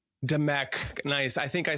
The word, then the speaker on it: Dimech: Um, we have Peter Gray and Elisti uh Demuk. Did I pronounce that correctly?